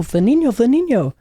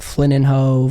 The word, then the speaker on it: Flynninho: But yeah, it's Portuguese. And so it's pronounced like an ene, like you would be like, you know, for like mañana in Spanish.